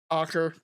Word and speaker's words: Acre: Despite successes such as the capture of Achre and other Acher is how I've heard it pronounced more often. Although I've said Acre myself sometimes, I probably will again.